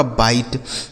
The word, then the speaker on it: bite: यह लिखा गया आपका बाइट, बी आई टी ई बाइट।